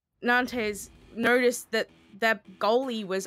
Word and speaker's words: Nantes: It is Nantes Esport. You don't have to say it like I do, but just for the future, because I do this to everybody, it is Nantes. It is not Nantes.